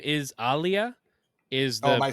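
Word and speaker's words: Aaliyah: pronouncing it like it's like Ali like Muhammad Ali so it's Aliyah but like a hard emphasis on the a but also I heard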